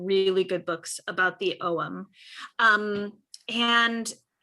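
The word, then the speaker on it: ogham: good books about the OM um and C can you put in the chat how you spell om o o g h a m and the g is silent and just like all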